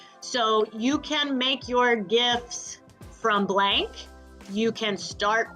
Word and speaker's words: GIF: download gifs or gifs I call them gifts with a hard G because the acronym stands for graphics interface format and that G in graphics is hard but potato patato to